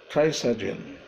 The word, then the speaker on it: Trisagion: Today I'm going to comment on the word, the Trisagion, or the Trisagion. Trisagion. It's pronounced the Trisagion.